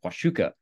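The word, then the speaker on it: Huachuca: another Sky Island system the wuka mountains that's how you pronounce that with various different canyons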